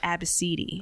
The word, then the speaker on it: Abcde: Her daughter's name was spelled ABCDE. Oh, goddamn. And she pronounced it Abacidi.